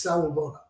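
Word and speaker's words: Sawubona: and a Zulu culture there's a word and it's pronounced salivona s-a-w-u-b-o-n-a and it translates directly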